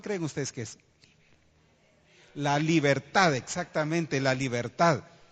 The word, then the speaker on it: libertad: La libertad, exactamente, la libertad. Es una trisílaba, ¿verdad? Libertad. Según la regla gramatical es una palabra aguda, ¿verdad?